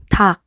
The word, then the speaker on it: 닭: First example word, 닭, 닭. We learned about K and P sound. This is pronounced with the K sound, which means chicken.